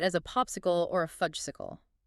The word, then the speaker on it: Fudgesicle: But she doesn't refer to it as a Popsicle or a Fudgesicle. She hilariously, and with complete deadpan earnestness, pronounces it fudgical.